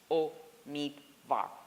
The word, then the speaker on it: Omidvar: I often stop, especially in committee, and I say, Senator, the correct pronunciation of my name is Omidvar.